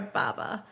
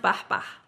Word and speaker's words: Bahbah: It's just Baba but it's actually pronounced Bahba but you can you can say Baba that's fine.